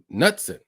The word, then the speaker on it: Knudsen: The K is silent. Oh, Nutson.